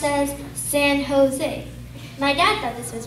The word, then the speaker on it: San Jose: right my dad said oh so this is San Jose it's very quickly corrected no it's pronounced as San Jose my dad thought this is what you kiss